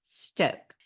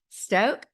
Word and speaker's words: Stok: have tried them all this is STO and it's St okay and there's the long vowel symbol over the O which tells you it's pronounced Stoke Stoke cold brew coffee and